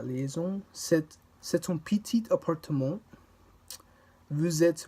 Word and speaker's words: vous êtes: In this sentence, the S from vous links to the beginning of it. Vous êtes.